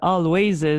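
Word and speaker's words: Alvvays: canadien always en fait ilécrivve avec de V là mais on le prononce always vraiment bon vraiment vraiment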